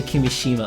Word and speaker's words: Kimishima: Kimishima.